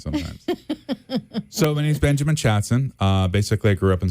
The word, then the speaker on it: Chatson: No, so the way you spell it is like chat soon, right? One of the O's is silent. Yeah. Pick whichever one you want. It's pronounced chat soon with a double O. Yeah, like we'll chat soon. Like a saloon. Like let's chat soon.